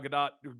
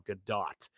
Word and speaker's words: Gadot: like we've been saying Godot because we're conditioned to say that OT is pronounced oh because we are Americans and have been influenced